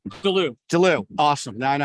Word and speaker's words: Delloue: never know how to say your last name dulu awesome now i know how to say it